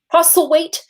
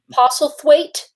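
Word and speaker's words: Postlethwaite: british lawyer of pete apostle weight i think that's how you say his name apostle weight he was in this i think that's just wait one more time it's t-h-w-a-i-t-e it's pete possible the weight apostle thwaite pete possible thwaite that's fun to say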